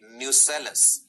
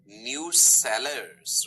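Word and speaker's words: nucellus: गौर फरमाइएगा यहां पे इस वर्ड पे न्यूसेलस, डू not confuse it with न्यूक्लियस। कई बच्चे जल्दी में ना न्यूक्लियस पढ़ जाते हैं। न्यूक्लियस का स्पेलिंग क्या है, लिखो, दिस इज न्यूक्लियस, और ये क्या लिखा है, न्यूसेलस, राइट, न्यूसेलस। मिलते जुलते से स्पेलिंग लगते हैं, गड़बड़ नहीं करनी।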